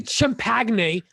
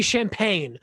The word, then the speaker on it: champagne: right no you didn't you don't say chimpagne you say champagne okay you say france